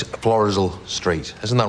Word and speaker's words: Florizel: I thought the pronunciation was Florizel, sorry. No, it's Florizel Street.